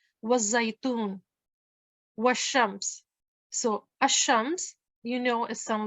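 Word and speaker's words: الشمس: Al-qamar means the moon, and you can see when you hear al-qamar, you can hear the lam. Ash-shams, as you can hear that I'm not pronouncing the lam.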